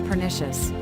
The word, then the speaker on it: pernicious: Pern rhymes with fern, which is harmful and can cause death. Word can be divided like per plus nicius. Nicius sounds like noxious. So something harmful is pernicious.